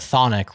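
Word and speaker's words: chthonic: now that you know that thonic rhymes with Nick you also know it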